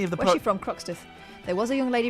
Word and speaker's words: Croxteth: Croxteth. There was a young lady from Croxteth. There was a young lady from Croxteth. Is that what it it rhymes with Toxteth.